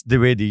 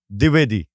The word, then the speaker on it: Dwivedi: How's the correct way to say your name? It's Dewitty. You know, it's really hard to get. Say it again. Dewitty. Well, that's not hard. Dewitty.